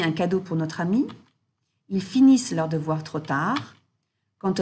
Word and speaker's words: finissent: Again, for the ils and elles form of the verbs, the ENT is pronounced E. Ils travaillent, ils finissent, ils attendent. Okay, so we're not hearing that ENT. Don't say ils travaillant, ils finissant, ils attendant, which is often what we hear.